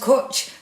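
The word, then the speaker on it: cwtch: Oh, it's pronounced kutch.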